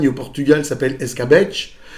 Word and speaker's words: escabeche: En Espagne et au Portugal, ça s'appelle escabeche, donc avec le V qui se prononce B, hein, le B comme une bâche espagnole.